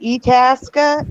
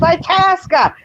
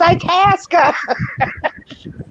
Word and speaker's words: Itasca: he couldn't pronounce itasca you're saying etaska itasca and i'm just yelling at the tv going it's itasca it's itasca he goes you